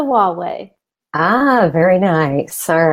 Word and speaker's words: Huawei: If you ever have any question on how to pronounce Huawei, just think, it's my way or the Huawei.